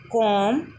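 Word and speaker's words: calm: तो अगर किसी स्पेलिंग में बी के बाद एम आता है, मीन्स बी के बाद एम आता है, तो वहाँ पर बी साइलेंट हो जाता है। For example कॉम, Baum, कॉम, थम।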